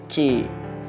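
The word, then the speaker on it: ち: Misal ta, ti, bukan ti ya, tapi ci.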